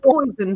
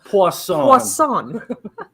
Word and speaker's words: poisson: And she says it's not pronounced poison for fish. It's pronounced poisson.